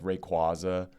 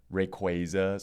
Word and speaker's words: Rayquaza: How do you say Rayquaza or Rayquaza? I say Rayquaza. Rayquaza is the more popular one. Yeah. But I know some people who say Rayquaza because it's based on a quasar, right?